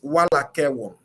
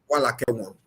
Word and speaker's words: Walakewon: My mother gave me that name is Walakewon. Wa- Walakewon. Wala ke walk. Yes. Wala ke one. Walk. Yes. You don't pronounce the N. Wala ke walk. Walakewon.